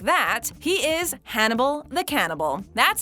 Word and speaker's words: Hannibal: It's a good thing that this character's name is Hannibal, because the only word in the English language that rhymes with it and vice versa is cannibal.